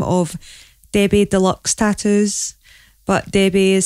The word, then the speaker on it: Debay: under the name of debbie deluxe tatters but debbie is spelled d-e-b-a-y which confuses lots of people it's not debate americans tentacle or db english call me tb